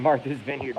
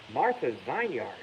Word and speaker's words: Martha's Vineyard: without distortion everybody's on martha's vineyard bro by the way that's how you say it it's not if you're from boston it's not martha's vineyard martha's vineyard blackie knows but anyway uh